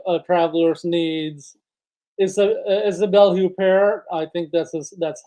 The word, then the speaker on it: Huppert: su's new movie A traveler's need is Isabelle huper I think that's that's how you pronounce her name famous French actress she plays